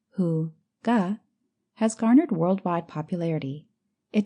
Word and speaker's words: Hygge: All over the world, Hygge, pronounced Hu-ga, has garnered worldwide popularity.